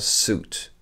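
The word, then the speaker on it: suit: ace out as août il est bizarre parce que c'est contre intuitif la manière dont prononce ce nombre un costume à 6 août vous pouvez vraiment ignorer le i d'accord soute a souhaité un costume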